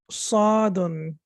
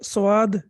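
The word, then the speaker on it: صاد: idea हो जाएगा Ceylon साधन यह साध है प्लीज इसको स्वाद नहीं पादना इसी तरह से मुश्किल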